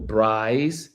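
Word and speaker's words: braai: I've attended a um two bri. Uh, for those that don't know what a bri is, it's a b it's spelled b r a i and they have it's in America we call them barbecues.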